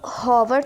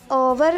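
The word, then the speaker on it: honour: सारा has returned after N ओवर, अब होवर तो नहीं इसको पढ़ेंगे, एच इज साइलेंट, तो ओवर अ की साउंड के हिसाब से हम इसके साथ एन ऐड कर देंगे।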